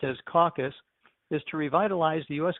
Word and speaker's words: CCAC: CCAC, pronounced caucus, is an organization for